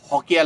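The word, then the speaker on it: हौका: तो ओरिजिनली जोहार के लोग हॉक हुए, लिखने में शौक बोलते हैं, शौका लोग बोलते हैं, लेकिन हॉका लोग।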